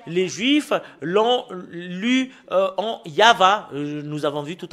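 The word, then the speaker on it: יהוה: la Sainte Écriture hébreu c'est yava qu'on le prononce et vous pouvez pas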